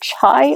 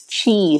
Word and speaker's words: Chai: Is it Chai or Chi? Because sometimes the I can be an E. I do know that. Okay, it's Chi, so I had it wrong. It's Chi Mama.